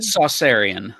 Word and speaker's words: Saucerian: I pronounce it Saucerian.